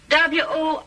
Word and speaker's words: Worcester: But it's spelled W-O-R-C-E-S-T-E-R.